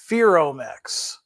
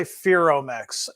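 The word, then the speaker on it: Ferromex: of us tell me the pronunciation is fearomix so I'll have to see after I get done flipping screens if I have some of our friends South of the Border that are watching if uh A Connecticut Yankee pronounced that correctly so we'll say ferromax for our fans down south now these were delivered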